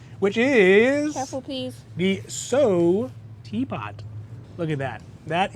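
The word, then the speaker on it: Saut: excuse my French uh it is pronounced so so and so the teapot uh is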